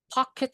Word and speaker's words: pocket: Uang jajan, pocket money. Teman-teman boleh baca pocket atau pocket. Is okay. Pocket. Dibaca I.